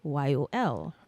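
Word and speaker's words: Kwéyòl: Then St. Lucians, they don't use R's. Okay. It's replaced with W. So it would be Kweyol.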